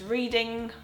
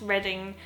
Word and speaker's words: Reading: pronounces this wrong um I was convinced it was reading um but once I moved to the UK I found out it's reading I don't think there is